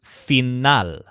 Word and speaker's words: final: thinks about this nail his word for end is phenol so it's spelled just like the English word final but the stress is on not like nail phenol for some reason this